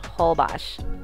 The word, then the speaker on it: Holbox: so we finally made it to hobash if you see this written out it's actually going to look like whole box but it's pronounced holbox now this island is located north of mexico's